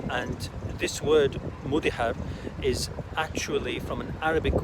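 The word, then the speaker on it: Mudéjar: would now be called Mudihar, spelled Mudijar in English but pronounced Mudihar. And this word Mudihar is actually from an Arabic word called Mudajjan, which means tamed.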